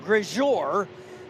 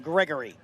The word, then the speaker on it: Gregory: I've been calling him Grejor for about 3 races, and I was in his trailer here the other day, and I found out, yes, I've been saying it wrong, but nobody corrected me.